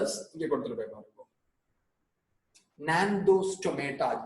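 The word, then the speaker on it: Gnathostomata: Nandostomata, G silent.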